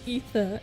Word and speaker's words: Aether: Aether. A. It's pronounced ether, actually.